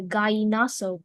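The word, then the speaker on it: gallinazo: The sentences, "The archaeological site revealed remnants of the Gaaso culture, shedding light on the ancient civilization's artistic and technological achievements."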